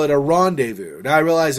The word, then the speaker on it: rendezvous: we'll call it a rendezvous. Now, I realize in French you say rendezvous with a rolled R and stuff, but it's similar in English, rendezvous, okay?